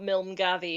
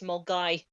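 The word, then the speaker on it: Milngavie: And it's not Milmgavi, it's Mulgai.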